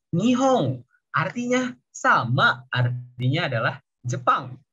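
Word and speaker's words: 日本: Nah, ini di bahasa Mandarin bacanya Ripen. Kalau di bahasa Jepang bacanya Nihong.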